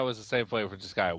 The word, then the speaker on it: Disgaea: I know it's pronounced Disgaea now because they say it in the game.